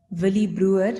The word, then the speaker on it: Willie Bruwer: Villy Brewer. Am I pronouncing it correctly, doctor?